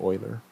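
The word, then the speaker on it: Euler: Swiss mathematician named Leonard oer this is how you pronounce his name oil like the Houston Oilers back in the day uh table 15 suggests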